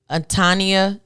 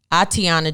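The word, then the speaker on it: Atatiana: Pamela Turner Dominique Clayton Tania Jefferson I Tiana Jefferson I remember that that's how you say her name i Tiana Jefferson Christopher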